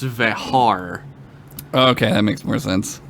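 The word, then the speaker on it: Vejar: He's directed episodes of Babylon 5, The Dead Zone, Lois and Clark, The New Adventures of Superman, and apparently his name is actually pronounced Vehar.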